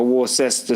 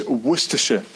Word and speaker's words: Worcestershire: But then like a Worcester sauce, is that how you pronounce it? No. How you pronounce it? I believe it's Worcestershire. Okay, Worcestershire I think that's sauce.